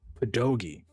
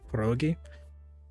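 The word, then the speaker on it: pierogi: Um, so we've we've always we've always pronounced it as pedogi. Um, because my family could never learn to roll their R even though it's perogi.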